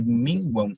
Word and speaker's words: minguam: Achei que minguam era de tom. Cuidado, porque o M lá no final, você não... Você olha como consoante. Mas foneticamente, você pronuncia U.